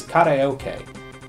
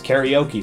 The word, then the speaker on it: karaoke: massively successful Japanese export is karoke which we pronounce karaoke for some reason it is everywhere